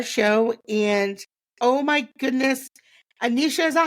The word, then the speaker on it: Anisha: And oh my goodness, Anisha, is that how you say it?